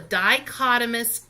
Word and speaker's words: dichotomous: called a dichotomous key that H is silent there so it's called a dichotomous key and it says